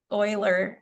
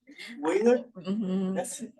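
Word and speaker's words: Euler: Oiler. It's weird. Oiler. E L E R. Uh, but you pronounce it Oiler.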